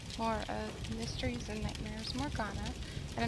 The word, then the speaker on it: Morgiana: It's Amber, and we're back with some more of Mysteries and Nightmares Morgiana. And I'm sorry, I was calling it Morgana.